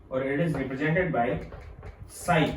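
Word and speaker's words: psi: इट is represented by साई, P silent रहता है, इसको हम शाई नाम देंगे।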